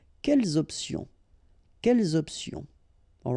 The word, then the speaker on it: quelles options: Option is starting with a vowel, you should make the liaison between the two. Quelles options?